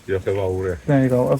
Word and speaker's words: Diolch yn fawr: Is it Diolch yn fawr? Diolch yn fawr, yeah.